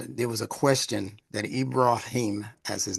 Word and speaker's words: Ibrahim: And there was a question that Ibraim, as his name is to be pronounced, Ibraim.